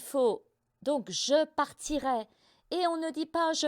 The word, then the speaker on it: partirai: Avec JE au futur il faut penser à RAY, la prononciation comme RAY Charles.Ensuite, il faut, donc je PARTIRAI, on ne dit pas